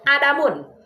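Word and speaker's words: عدم: Kalau Adam pakai Hamzah itu nama Nabi Bu ya. Dan panjang adamu enggak pakai tanwin adamu. Tapi kalau Adam lawannya wujud itu pakai tanwin. Adamun pendek lagi bacanya adamun. Kalau pakai alif lam dibuang tan jadi aladamu.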